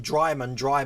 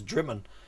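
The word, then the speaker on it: Drymen: Which I've had once before when I kept pronouncing Dryman when it's Drimmen.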